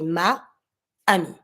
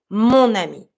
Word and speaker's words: mon ami: So you're going to say mon ami. It's smooth.